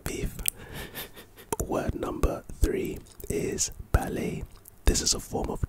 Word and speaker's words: ballet: at the end instead the second syllable should sound like lay why are you telling me how to pronounce it example my niece and nephew are in ballet classes so I watched